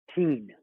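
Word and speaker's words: Tien: T-I-E-N. Teen. Teen. Yes. Teen. His eyes are teal, but his name is Teen. Teen. Seraphine and Teen with Sidon. Yeah, Seraphine is and a Teen.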